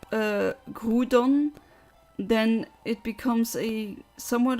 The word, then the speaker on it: Groudon: myself I I mean I've grown up saying Groudon but that's because the French and the I think the German anime and games at times also pronounce it that way but the English speaking people usually said Groudon both work I'd say the thing is in